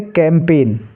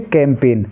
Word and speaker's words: campaign: ऐसे ही CAMPAIGN, इसको हम क्या पढ़ेंगे? कैंपेन। क्या पढ़ेंगे? कैंपेन। ऐसे ही RESIGN, इसको हम पढ़ेंगे रिज़ाइन।